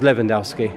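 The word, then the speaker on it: Lewandowski: Is it Leandowski or Leandowski? Uh, it's a W, but because he's po I think he's Polish. Yeah, he's Polish. Yeah, it pronounces it with a V. So, it's Leandowski.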